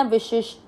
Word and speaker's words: विशिष्ट: देखो पहले शंकर जी वाला श और फिर है षटकोण वाला, उसको कैसे तेज पढ़ना? विशिष, विशिष, और ट में अ मिक्स करना, विशिष्ट।